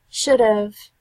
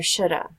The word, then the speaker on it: should have: school our work pronunciation should have is commonly pronounced like should've are shoulda even in formal settings